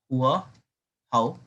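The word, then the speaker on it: Hòa Hảo: बेटा हुआ हुआ मूवमेंट, अब बेटा इसको प्रोनाउंस करना, हुआ हाउ।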